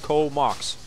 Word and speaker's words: Comox: Comox is pronounced Comox. Or rhyme with Go Sox, but thanks for the shout out.